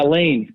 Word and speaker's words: Lane: Is it Lane? Yeah, Lane. Lane, okay. We're close friends, yeah. I didn't know if it was Lane. Good buddy. It could be pronounced Lane. Lane. No, it's Lane.